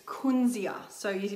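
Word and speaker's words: Kunzea: thousands of years here in Australia and it's Quincy er so you pronounce it Quincy yeah so we were so excited when this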